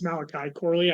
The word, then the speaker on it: Malachi Corley: The Jets kick off the third round with Malachi Corley. I think I pronounced that right. I really liked him. But I don't know. Malachi, yeah, it's Malachi Corley.